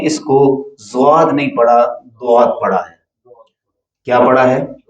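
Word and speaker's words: ضاد: زواد ہے ہی نہیں، حرف دواد ہے، اس کا تلفظ زواد نہیں ہے.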